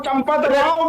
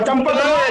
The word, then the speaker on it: चंपत राय: हो पहले ज्ञान रखो चंपत राव भी नहीं है चंपत राव भी नहीं है आप सही उच्चारण करो चंपत राय चंपत राय है चंपत